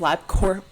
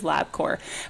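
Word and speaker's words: Labcorp: Literally everybody like agreed labcore but and and there was one comment that was like if the P is silent why is it there?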